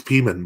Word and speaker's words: Pimen: It's Uh, a Russian, pronounces vowels kind of like Spanish. So like the I is an E, it's kind of, yeah, it's the same kind of system there.